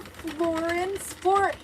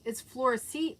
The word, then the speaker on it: Florencia: Thank you, Florence. No, it's Florencia.